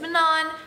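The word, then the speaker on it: Manon: and then there's Manan blackbeak whose name I pronounced as mannon for like half of the book before I watched Sarah J Mass's interview about Aire and she said Manan and I was like whoa I'm so bad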